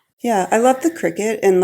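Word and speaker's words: Cricut: They call it a cricket but it's spelled when I first got I used to call it a cry cut right cuz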